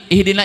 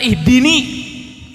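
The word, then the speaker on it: اهدنا: Tapi dalam Fatihah kita enggak tetap bacanya ihdina. Bukan ihdini, tapi ihdinasiratal mustaqim. Kalau ihdini kan tunjukkan aku.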